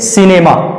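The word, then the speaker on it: cinema: देखते हैं फ्रेंड्स कुछ उदाहरण को, जैसे सिनेमा, सी के बाद आई आया है, सी के बाद आई आने से सी का उच्चारण सा के रूप में होगा, अर्थात इसका सही उच्चारण हो जाएगा सिनेमा, सिनेमा। उसी तरह से आगे है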